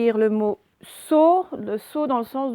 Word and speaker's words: saut: Et à la fin de saut, il y a un T qu'on n'entend pas parce que ça fait sauter.